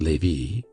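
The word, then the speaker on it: Lévis: named Matha Noe Lei l v i s which was pronounced Lei KES c a m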